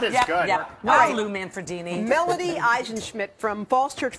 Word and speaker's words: Manfredini: He's got a name that rhymes with Lamborghini. Oh, very nice. Very nice. That is good. Yep. Hi, Lou Manfredini.